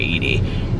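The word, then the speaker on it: Eadie: Eady. And I think it's Betty J. Eady, or I think they pronounce it Edie, but anyway, it's E-A-D-I-E.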